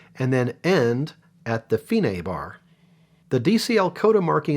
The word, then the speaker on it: fine: or dc alkoda the finae is going to be somewhere in the middle of the music and that is how you pronounce that that's an italian word for the end when the marking says